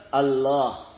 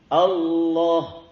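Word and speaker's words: الله: Tidak ada huruf wau. Itu lam yang bertasydid. Lam bertasydid. Cara bacanya tafhim. Tafhim itu ditebalkan Allah. Allahu Akbar. Jadi bukan wau. Kalau dibaca pakai wau berarti keliru.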